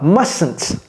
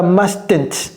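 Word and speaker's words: mustn't: souvent cela n'est-ce pas must must ne prononcez pas ce t ne dites pas must ok must must OK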